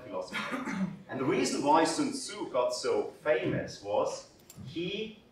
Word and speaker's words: Sun Tzu: 2,500 years ago, a very interesting person lived with the name of Sun Tzu, or Sun Tzu, I think as it's pronounced correctly.